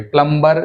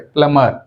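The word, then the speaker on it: plumber: तो यहां पे बी प्लमबर नहीं कहना चाहिए। प्लमबर जो है गलत है। प्लमर प्लमर B silent.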